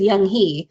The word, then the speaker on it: Young Hee: And I'm like, it's young, old and young.